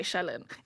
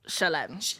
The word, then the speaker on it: Shelen: Shelen. Yeah, some people say Shelen. It's Shelen. Shelen sounds like Sharon. It does. I'm so sorry. Shelen. If I would no. Now if I hear someone calling you Shelen on a night out, I'm beefing them.